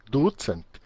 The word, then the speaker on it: ducent: Tricent, quartcent, vincent, Veja que o acento em Esperanto sempre é na penúltima sílaba. E aqui temos duas sílabas, é ducent, tricent, quartcent, quincent, tá?